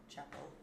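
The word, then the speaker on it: Chappell: Chapel.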